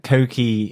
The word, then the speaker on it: Coky: It's a bit like the director, Coky Giedroyc. Giedroyc is spelled very differently than I would have thought. And I keep thinking of, let's do the hokey cokey every time you say his name.